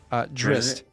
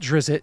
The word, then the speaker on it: Drizzt: Drist. Yeah, not Drizzt, Drist. You're adding an extra I.